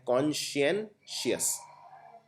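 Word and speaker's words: conscientious: कॉन्सेंशियस में आपको पहले इसको प्रोनाउंस ढंग से करना है कॉन्शियनशियस, तो ये आपकी कॉन्शियस से रिलेटेड है।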